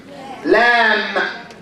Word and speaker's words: lamb: Like, for example, if we have M plus B, we say, what's this word? Lamb. The B is silent.